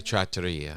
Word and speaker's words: trattoria: Here in our trattoria. Trattoria? Someone attacked me online and said, "It's how dare you? You say you're Italian and you're calling it a trattoria." It's a trattoria.